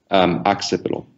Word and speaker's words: Occipital: Occipital.